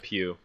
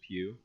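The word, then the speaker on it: Pugh: Pew Florence uh yeah Pew um I actually had to look up how to pronounce it because it's p-u-g-h luckily I had a uh I had a school mate whose last name was Pew I'm actually into acting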